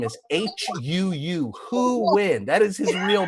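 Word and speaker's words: Huu: Who Win?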